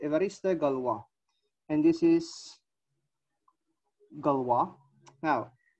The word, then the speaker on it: Évariste Galois: This is the pronunciation, Évariste Galois.